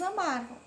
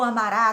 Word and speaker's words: amara: vós amares e eles amaram. Então, o mais que perfeito, a terminação é ara. Ara não é ará. Eu amará, tu amarás, não. É ara. Eu amara, tu amaras.